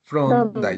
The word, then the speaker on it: Thorndike: Thorndike, eh, a ver, Elena, ¿cómo se pronuncia? Ya, Edward Thorndike. ¿Así es, Thorndike, profesor? Thorndike.